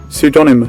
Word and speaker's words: pseudonymous: 🔊PSEUDONYMOUS! (Đọc theo giọng Anh). 🙋‍♀️Pseudonymous! Đó thì có hai cái cách đọc ở đây.